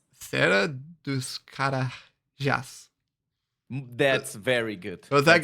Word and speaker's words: Serra dos Carajás: But for example, I think in Serra dos Carajás, which is a terrace, I think it's very good.